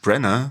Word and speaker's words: Branagh: Einfach nur Kenneth Branagh. Branagh, so spricht man aus.